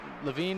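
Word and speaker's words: Lavigne: like a little laig and then just but LaVine is is rare I usually don't get LaVine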